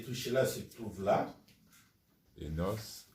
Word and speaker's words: Enos: Enos, ou ça se prononce Enos.